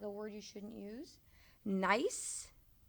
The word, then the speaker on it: gneiss: Gneiss. This is pronounced like the word nice.